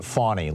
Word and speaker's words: Fani: send you my schedule I think she pronounces it fauni like uh like the baby deer um but uh but